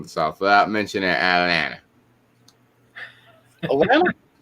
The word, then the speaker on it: Atlanta: Atlanta? No, Atlanta. There's no T in Atlanta.